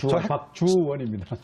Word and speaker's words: 박주원: 발음 잘하셔야 됩니다. 박주원입니다.